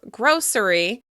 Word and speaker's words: grocery: Once again, some people pronounce this with 3 syllables, grocery, and some people say just 2. Grocery. I notice when I talk about a grocery store, I drop the syllable.